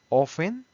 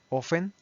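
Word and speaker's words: often: frequent frecuentemente 80% ofen ojo con con la pronunciación aquí aquí offen la t no suena offen 70 por que es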